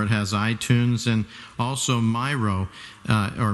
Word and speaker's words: Miro: Or it has iTunes and also Miro, or Miro if you pronounce it that way, M-I-R-O.